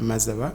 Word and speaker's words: Mazaba: the future well thank you very much Mr mazawa I hope I'm pronouncing your name yes no you've got it